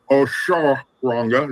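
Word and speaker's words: Osoronga: Oshoranga is how it's pronounced.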